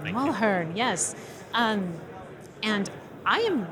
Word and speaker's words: Mulherin: want to make sure I say it correctly, Mulherin. Mulherin. Thank you. Mulherin, yes.